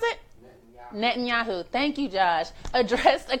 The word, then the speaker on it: Netanyahu: yawn oh oh my god how do you pronounce it Netanyahu thank you judge address a conference of foreign